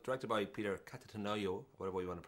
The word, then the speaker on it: Cattaneo: I know it's directed by Peter Cattaneo, whatever you want to pronounce it, from The Full Monty, and then... Cattaneo.